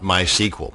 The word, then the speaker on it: MySQL: And yes, it's pronounced MySQL, not MySQL.